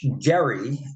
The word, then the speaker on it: Gerry: will be uh Elbridge Gary and I am going to pronounce it correctly uh it's with a hard G uh it has been